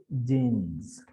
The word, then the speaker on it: jeans: When sa is preceded by a voiced sound, sa becomes za, like in the case jeans.